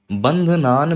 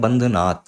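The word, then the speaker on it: बन्धनान्: का ध्यान रखिएगा और बंध नान मृत्योर मुक्षीय तो कई लोग यहां पे बोलते हैं बंध नाथ तो ये बंध नाथ ये नहीं होगा बंध नान यही होगा क्योंकि बंध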